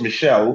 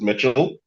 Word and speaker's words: Michel: And you you were close the I pronounce it um it's actually French, so it's pronounced Michelle, but I pronounce it Mitchell.